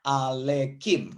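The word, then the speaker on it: עליכם: Jadi dibacanya alekim. Mungkin saya sudah pernah tuliskan ini. Hevenu shalom alekem ya.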